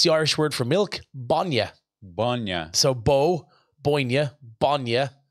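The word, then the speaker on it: bainne: Oh, I'm not too sure about way, but the main word would be milk though, which is Bonya.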